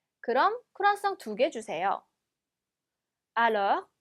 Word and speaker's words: alors: Alors, alors. 자, 얘도 마찬가지로 오긴 하지만 발음은 어처럼 내셔야죠.